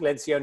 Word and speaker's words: Lencioni: Lindsey I mean you're Patrick Lencioni is how he says it so I'll take it